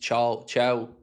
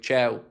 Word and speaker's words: Thiaw: Tia's pronounced Chow, by the way.